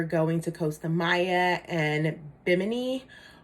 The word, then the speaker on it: Bimini: to costa maya and bimini or as the locals say at bimney um beach which is their